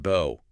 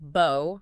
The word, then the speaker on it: bow: It could be pronounced bo rhyming with go. That's the verb meaning to bend at the waist like showing respect. And it can be pronounced bow rhyming with now or cow.